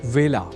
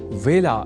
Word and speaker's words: वेला: जान ही चुके हैं कि व का कई बार ब के रूप में उच्चारण करना अशुद्ध होता है। अतः ए अक्षर से जुड़े बेला इस शब्द के उच्चारण में भी विशेष ध्यान रखा जाना चाहिए। अर्थात इसे बेला नहीं बोला जाना चाहिए।